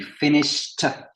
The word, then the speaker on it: finished: Et he finished avec un T.